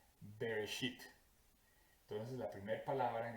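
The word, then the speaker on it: בראשית: Esa primera palabra en hebreo se pronuncia más o menos Bereshit.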